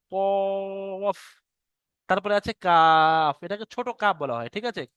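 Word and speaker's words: ق: কফ এটাকে বড় কফ বলা হয়। মোটা করে উচ্চারণ করতে হয়। কফ।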